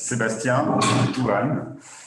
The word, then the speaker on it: Sébastien: for datsy so uh in case you don't know how to pronounce my name it's sebastian uh i work